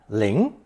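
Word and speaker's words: 龄: with a phonetic Ling the combination pronounced second tone Ling Ling the expression for age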